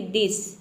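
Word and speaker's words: this: अब देखिए कुछ वर्ड में टी एच को अगर एक साथ आता है तो इसे हम द प्रोनाउंस करते हैं, जैसे कि दिस। इन सभी वर्ड को याद कर लेना है, या बहुत कम वर्ड्स हैं जहाँ पे टी एच को हम द प्रोनाउंस करते हैं। देखिए टी एच का हो जाएगा द, और आई का हो जाएगा ई, एस का हो जाएगा स, पूरा हो जाएगा दिस।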